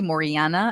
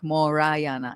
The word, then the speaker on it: Morana: Mor because I'll say Morana and I'm like Morayana. It's Morayana. So, think about it like